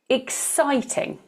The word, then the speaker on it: exciting: Okay, we're looking now for two more three-syllable words where the stress is in the middle of the word. This is more unusual. We have exciting, romantic, exciting, romantic.